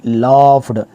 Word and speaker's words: laugh: बट he only लाफ्ड, ये English की pronunciation, मैंने कहा कि इंग्लिश की प्रोनाउंसिएशन इंतहाई ज़रूरी है। यहाँ पे LAUGH, लाफ, इसका प्रोनाउंसिएशन है लाफ, लाफ, लाफ्ड, लाफ्ड, ही ओनली लाफ्ड, लाफ